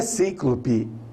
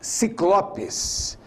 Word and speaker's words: ciclopes: no centro da testa não é sem clube são os ciclopes ciclopes aquele gigantes com apenas um